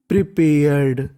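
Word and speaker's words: prepared: आर इसे पढ़ेंगे pair अगर आखिरी में इंग्लिश के कहीं पर ईडी आपको लिखा मिल जाए तो ईडी को हम लोग पढ़ते हैं ड क्या पढ़ते हैं ड ही प्रिपेयर्ड उसने तैयारी की प्रिपेयर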